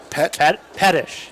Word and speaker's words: Pettish: Pettish. Pettish. That's a emphasis on the first syllable, I There believe.